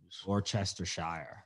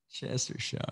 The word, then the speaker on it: Worcestershire: can get roadkill and doesn't wish your yeah orchestra shire that's how you pronounce it chester shower i love that that's how it's spelled worcestershire